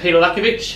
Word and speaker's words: Petar Lackovic: to turn you in today i'm here with peter lacovich how are you good richard how are you pronunciation perfect spot on mate perfect excellent now